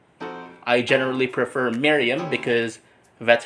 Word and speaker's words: Merriam: Like with the Miriam versus Miriam thing on the Vocab Hub, while most people pronounce it as Miriam, some people are trained to pronounce it as Miriam. I generally prefer Miriam because that's how native speakers pronounce it.